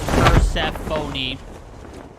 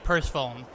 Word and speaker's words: Persephone: It said it's an all-female team, and it's pronounced Persephone. I'm sorry, but I see Purse Phone.